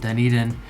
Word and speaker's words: Dunedin: But if you haven't heard it pronounced Dunedin, it is kind of hard to wrap your mind around that pronunciation.